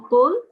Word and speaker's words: qul: For example, qul is just a straight on qul. Just say qul. قل Qul, that's it. So don't pronounce with a nasal sound in between.